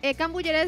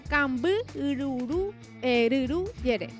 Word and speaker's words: cambururuyere: En cambullere se le dice, pero en realidad se pronuncia cambururuyere.